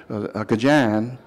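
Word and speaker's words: Acadien: just from Acadian the the way the acadians pronounce their name kajan they like to say they call themselves kajans and so that's where the word came from that's Acadian how they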